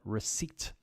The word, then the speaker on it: receipt: interesting okay so then we have receipt okay a seat that you sit on receipt answer silent w vegetable